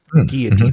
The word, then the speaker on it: guillotine: Guillotine really is how you pronounce it.